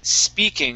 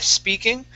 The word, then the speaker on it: speaking: This word is pronounced speaking instead of eh speaking. Take off that eh in front.